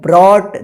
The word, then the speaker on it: brought: Sudhir built of a grand house with the money he had earned and brought.